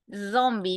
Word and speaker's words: zombie: Zombie. Mire la palabra cómo se pronuncia. La Z como si fueses a estar zumbiendo, ¿no?